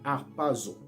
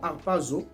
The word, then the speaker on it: harpazo: Ce mot-là vient du grec, du mot grec harpazo.